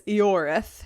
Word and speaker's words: Ioreth: Because of your which I have been episode? pronouncing as Ioreth. Okay. But in the video game it's Eoreth.